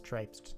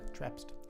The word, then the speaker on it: traipsed: For clarification, that's traipsed normally. traipsed. Traipsed. What did I say? Trapsed. Traps. Oh, it's like how you pronounce crepe.